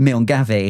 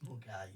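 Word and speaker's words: Milngavie: Milgabi. Yeah, that's it. It's not though. I know it's not say the right word. What is it, Alex? How is it pronounced? Mulgai.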